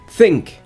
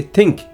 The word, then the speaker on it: think: Many a times I used to make mistake, while pronouncing the word like think or thumb or thirsty. We say think, thumb, thirsty. No, it's th sound, th sound.